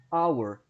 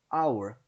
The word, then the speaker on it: hour: E aqui geralmente entender essas palavras que tem o H no início, mas é mudo, né? Hour, hour, hour.